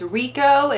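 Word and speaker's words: Reiko: an older woman and her name is Riko. It's spelled R-E-I-K-O, I believe.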